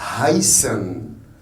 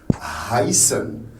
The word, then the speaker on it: heißen: En allemand, on la prononce. C'est un H. H. Quand vous rappelez, quand on a parlé du verbe heißen, c'est un H. On prononce le H. Heißen. Si c'était en français, on dirait heißen.